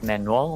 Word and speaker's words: Manuel: manuel i wanna say man well but it's not man well it's manuel meno i don't know how